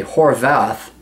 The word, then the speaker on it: Horwath: Andrea Horwath, New Democrat, the V is pronounced like a V. Okay, Horwath, Doug Ford, and Kathleen Wynne.